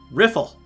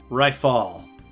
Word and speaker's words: Riffle: just peachy now right riffle hey you private second class my name is pronounced rifle rifle oh well thank you